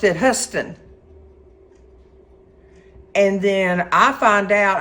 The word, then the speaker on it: Houston: h o u s t o n he pronounced it hust and then I find out I'm thinking I'm taking him to the Houston Hospital well guess what it wasn't the Houston Hospital it's the HST Hospital well look at me here learning something